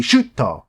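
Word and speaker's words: シュート: that a little weird because shoot, that's one syllable. But like in Japanese, it'd be shuto.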